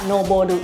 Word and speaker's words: 上る: แปล ว่า ข้าง บน แต่ ว่า มัน อ่าน ว่า Nobody นะ อัน นี้ มัน จะ